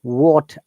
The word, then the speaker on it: what: w-h-a-n w-h-i-h and w-h-e-e-l generally we do not pronounce you know the h or h think that there is no h okay in this sound so it is what